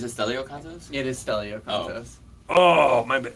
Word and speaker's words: Stelio: It is Stelio Contos.